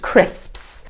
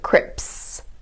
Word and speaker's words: crisps: It's the sound at the end. Crisps. You'll find a lot of people mispronouncing them as crips.